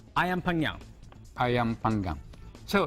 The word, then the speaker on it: ayam panggang: So how do you pronounce it? It's called ayam panggang. Ayam panggang.